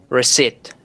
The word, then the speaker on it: receipt: Receipt without B.